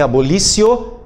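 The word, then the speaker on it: abolitio: de um lado e abolo com o t abolito pronunciem abolicio cries do outro a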